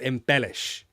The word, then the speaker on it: embellish: Yeah, that's a great great definition of embellish. Good. Pronunciation, embellish. The stress is on this syllable. Embellish. Embellish.